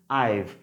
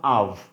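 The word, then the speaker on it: I've: উচ্চারণ কি? আইভ, নট আভ। ওকে, মনে রাখতে হবে আইভ।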